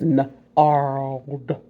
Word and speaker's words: gnarled: That's the G is silent. That's the hard one to sound out because the G is silent. It's gnarled.